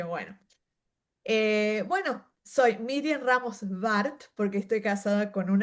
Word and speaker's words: Ramos-Warth: eh, bueno, soy Miriam Ramos Bart porque estoy casada con un alemán y la W se pronuncia como una B en España, así que bueno, por ahí va.